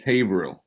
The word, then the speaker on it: Haverhill: it's the things like the h is silent it's weird leaving awesome